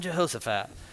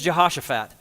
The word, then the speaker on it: Jehoshaphat: your hammer with a thumb he said jumpin Jehosaphat which is lame so just to be clear